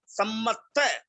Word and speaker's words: सम्मत्त: प्रणमीय शीर्षाणेमिं गुणरयन विभूषणम महावीरम सम्मत्त, वास्तव में सही बोला सम्मत्त, यहाँ पर डबल में का उच्चारण होना चाहिए, डबल तय का उच्चारण होना चाहिए।